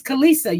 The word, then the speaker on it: Khaleesi: Okay, her name is Kalisa, you guys. It's spelled Khaleesi.